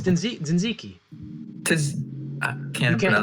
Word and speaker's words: tzatziki: It's tzatziki. I You can't can't- pronounce that. Yeah, but you said tashiki, which.